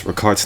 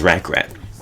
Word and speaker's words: rakart: And yes, 5, I pronounce Rakart's name as Rack Rat because it sounds more fun. So I'm gonna refer to her as Rack Rat. I think we Europeans we say Rakart always.